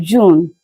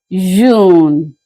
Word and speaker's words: June: June, that's in English, the month of June. In French, it is pronounced as June, June, June.